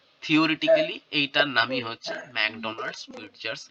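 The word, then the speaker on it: Pfitzer: ঠিক আছে, আরেকজনের নাম হচ্ছে ফিটজার, পিটা সাইলেন্ট, হ্যাঁ, ম্যাকডোনাল্ড ফিটজার্স।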